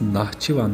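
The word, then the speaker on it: Naxçıvan: konuşmuştuk ama bundan sonra x'lerin He diye okunduğunu anladık Hatta dikkat ederseniz Nahçıvan yazarken o h de x diye yazılır aslında ama e diye okunur o şekilde bunu da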